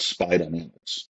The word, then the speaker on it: SPI Dynamics: to work for was called Spy Dynamics. It's spelled SPI Dynamics.